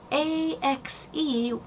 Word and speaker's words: ax: But if you ask someone something, A-S-K, you are inquiring of them, versus A-X-E, that one does have an X, and therefore you would put the X in it, ax.